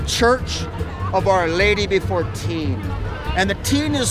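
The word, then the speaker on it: Týn: Cathedral or the Church of our Lady before teen and the Teen is spelled with a t y n and construction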